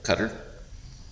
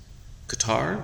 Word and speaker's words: Qatar: actually um take over cutter Qatar whichever you prefer pronunciation I've heard it both ways but uh um it's